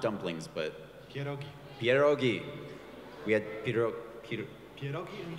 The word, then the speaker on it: pierogi: How do you say not dumplings, but Pierogi.